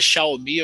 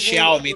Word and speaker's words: Xiaomi: Então ela fala Xiaomi. Então eu sigo Xiaomi. a pronúncia dela.